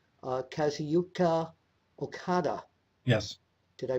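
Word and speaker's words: Kazuchika: one of the comments was at number 5, Kazuyuka Okada. Yes. Did I pronounce his first name right?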